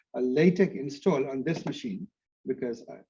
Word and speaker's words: LaTeX: LaTeX is pronounced LaTeX.